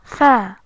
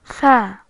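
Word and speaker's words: ث: The fourth letter in the Arabic alphabet is tha, tha. It resembles the TH in English, like in three.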